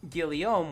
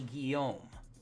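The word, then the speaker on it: Guillaume: He was he was uh correcting for stupid and pronouncing it Gileiam when it's actually Guom.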